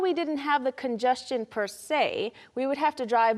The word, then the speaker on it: per se: 그 다음으로 그 자체가 그 자체로는 Per se.